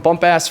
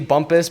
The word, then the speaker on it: Bumpass: believe this I'm from bumpass Virginia is that how you pronounce it it's supposed to be bumpass but it is bu M PA SS that's that is where